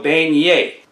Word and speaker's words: beignet: you can call it a cajun donut so beignet next we have crawfish bisque crawfish bisque next